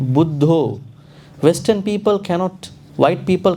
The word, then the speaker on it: Buddha: pronounce but see for instance some words like budho Western people cannot white people cannot pronounce they say uh Buddha who is Buddha there's no Buddha here but